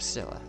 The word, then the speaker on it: stoa: It's pronounced how? Yep, stoa.